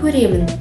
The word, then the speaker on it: көремін: Кітап оқығанды жақсы көремін. Көрем. Жақсы көремін. Мы так пишем, но произносим жақсы көрем через «г». Также окончание сокращаем на «м».